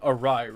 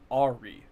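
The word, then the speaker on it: awry: read it in books, I thought it was pronounced ari like a u like a u r y like or or ai.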